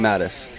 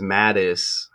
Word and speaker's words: Matusz: says his name is Mattis you would think he knows how to pronounce his name right so Google saying matus some are saying matus saying mtis that kind of sounds like Maddox remember the picture Greg